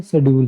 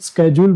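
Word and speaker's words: schedule: अब ये देखो ना, इसको मोस्टली अपने क्या बोलते हैं, शेड्यूल, क्या बोलते हैं इसको, शेड्यूल। ये मोस्टली बाकी इसकी एग्जैक्ट प्रोनाउंसिएशन आप इसको स्केड्यूल बोल सकते हैं ना, स्केड्यूल।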